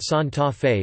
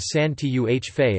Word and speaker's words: Santa Fe: However, due to the large amounts of tourism and immigration into Santa Fe, an English pronunciation of San Tuh Fe is also commonly used.